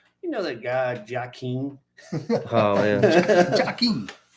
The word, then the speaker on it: Joaquin: My stepdad said, "You know that guy Joaquin?" Oh man, Joaquin. Well, if you look at the way it's spelled, you Yeah. really, unless you've heard it, you don't know.